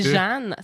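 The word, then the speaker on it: Jehanne: C'est Jeanne. C'est Jeanne. Faut dire Jeanne Benoît, en fait. Puis, non, mais c'est ça. Elle a écrit avec un H supplémentaire qu'on ne prononce pas.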